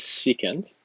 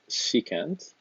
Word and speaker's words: secant: The next one is secant, and you write SEC. That is the reciprocal of cosine, and that is pronounced secant.